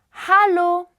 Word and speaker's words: Hallo: Hallo, hallo. Pronounce the H.